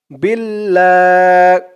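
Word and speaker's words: بِاللّٰهِ: লাম খানা জবর লা বিল্লাহ হি বিল্লাহি বিল্লাহি এখানে দেখুন আল্লাহ শব্দের লামের উচ্চারণটা লা হলো বিল্লা লা উচ্চারণ হয়েছে আর আমরা উপরে এখানে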